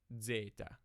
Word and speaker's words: zeta: too hard to remember the original historical pronunciation of this letter is actually debated and its original pronunciation is only reflected in either the early hi coin a system which is a Z and a D together like data or inner assman which is D and Z and reverse Zeta in the other systems it is pronounced like a simple Z now we'll take a